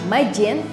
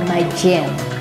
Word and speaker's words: Magene: Aku bersama Majin. Nanti aku liatin ya fullnya. Aku bersama Majin, tulisannya M-A-G-E-N-E. Tulisannya ya, M-A-G-E-N-E, bacanya Majin, Majin, oke?